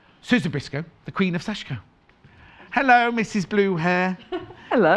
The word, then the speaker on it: sashiko: want because i was saying it wrong so that saying sashiko no it's sashko and then i did